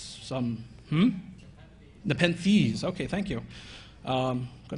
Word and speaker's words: Nepenthes: One's called Nepenthes, and I'm probably mispronouncing that because it's some, Nepenthes.